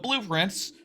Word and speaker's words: Blue Prince: So blueprints, which we will make sure to pronounce as two words, blue and prints, and not let it all like blur together into another word that sort of a pun.